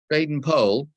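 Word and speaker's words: Baden-Powell: without meeting any resistance jaden pole that's how you pronounce the name by the way a member of the family assured me of that baden poll held out mavicking until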